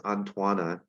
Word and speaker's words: Antoine: the way by the way this thing is pronounced as antoana he's a french guy yeah okay so uh